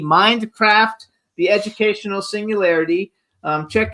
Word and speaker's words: Mindcraft: the book Minecraft Mindcraft I want to make sure I say it correctly because he corrected me before nicely but that actually saying I didn't say it correctly mind with a d Mindcraft the educational Singularity um